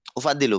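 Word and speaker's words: أُفَضِّلُ: tambah tambah Tambah ramai Ustaz itu cara bacanya u ufadil at H ufadilu betul Ana ufadilu ya ana ufadilu saya mengutamakan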